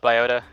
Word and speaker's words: Biota: Is it Biota? Biota? I've heard it a couple different ways. Yeah, I've heard it a ton of different ways. We usually go with Biota.